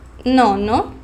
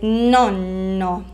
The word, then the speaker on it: nono: Nono. Attenzione qui ragazzi, da non parlare nonno. Nonno con la doppia N.